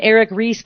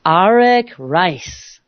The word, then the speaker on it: Arik Reiss: Arak and it's very exciting many people might pronounce his name Eric Ries but indeed that is incorrect so I want